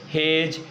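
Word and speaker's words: hedge: Silent होता है आपका, जी से पहले अगर आया है अक्षर, ठीक है ना, पहले आया है तो हम डी को क्या पढ़ेंगे, साइलेंट पढ़ेंगे।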